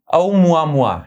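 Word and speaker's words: ʻOumuamua: topic जो हम करेंगे ये प्रोनाउंस करने में थोड़ा मुश्किल है औ मुआ मुआ ये एक हवान वर्ड है तो यह था औ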